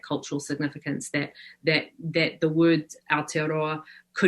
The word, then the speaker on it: Aotearoa: I don't know how to pronounce this one. That you make the effort means the world. Aotearoa. Aotearoa.